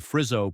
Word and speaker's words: Frizzo: The town's police chief, Laura Frizzo, pronounced F-R-I-Z-Z-O, starts asking questions.